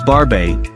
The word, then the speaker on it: Barbet: comes to shedding 9 barbit varvit pronounced as barbae is a medium-sized dog